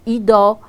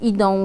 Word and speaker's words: idą: Chociażby tutaj przykładem może być nosówka on w wygłosie, czyli na końcu wyrazu, którą dość często niedbale wymawiamy jako ido, widzo, zamiast idą, widzą, albo czasami wymawiamy ją jeszcze inaczej, idą, widzą.